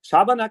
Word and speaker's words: Schabernack: Oh my god, Eugen, how do you pronounce that one? Bartholomew? Well, you actually do it quite well. It's like Schabernack is right.